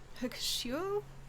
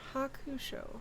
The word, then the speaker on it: Hakusho: Yuyu Hakushio.